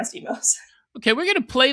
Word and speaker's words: Imo's: it was about uh was it Imo's Pizza or Imoz? I believe it's pronounced Imo's. I might be wrong. Um, I I I'm almost certain it's Imo's.